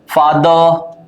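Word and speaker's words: father: ब आथ बात राइट फादर र जो होता है ना लास्ट में अंग्रेजी के लास्ट में जो र है उसको उच्चारित नहीं करते हम और यदि आर के पहले कोई वावल होता है तो भी आर उच्चारित नहीं होता है ना फादर ब्रांच इसको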